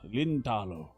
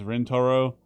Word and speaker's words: Rentaro: He's it's American man trying to say his name, which is Rentaro, but he's trying to do it in Japanese, so the R and the L's.